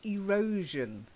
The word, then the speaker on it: erosion: okay maintenance okay then erosion erosion to erode okay erosion erosion erosion not shun shun erosion yes better it that's